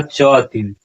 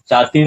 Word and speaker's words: च अतिव: और उसके बाद बताते हैं तत्र संस्कृत गधस छटा समस्त पदावल्या ललित पद विनासेन च अतिव यहां उच्चारण क्या होगा? च अतिव चातिव नहीं होगा।